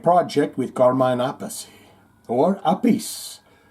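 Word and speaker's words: Appice: aathy or a piece some assholes in Shane's podcast will say uh dude you said it wrong it's a piece and some will say no it's aacy and then some will say no Vinnie calls himself Vinnie aacy Carmine calls himself GM a piece and the other guy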